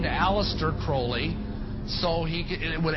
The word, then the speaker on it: Crowley: he likes to bring have his name pronounced crowley to rhyme with holy and uh the satanists